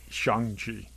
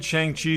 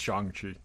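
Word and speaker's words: Shang-Chi: see it and and by the way it's shangji okay so shang i say i've said chiang chi since the 1970s it's chongchi code code now that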